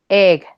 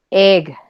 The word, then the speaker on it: egg: Y ahora tenemos esta que es la E de nosotros, la normal. Egg. Si se dan cuenta, esta es abierta. Y nosotros la pronunciamos casi siempre casi así. Pero no, esta es abierta. Egg.